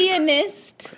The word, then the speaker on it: pianist: I thought you said a penis. pianist. A pianist. That's how I said it the first time. But Pianist. Where's the A? you don't say it like that.